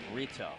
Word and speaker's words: Rito: saying her name Aaliyah Rito Rito is a fun last name to say Rito is a fun last name it's like burrito but shorter in one syllable burrito actually it's two syllables burritos are nice I